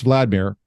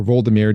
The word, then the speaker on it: Vladimir: is interesting so uh Vladimir Prince Vladimir or vmir depending on how you pronounce it he was the ruler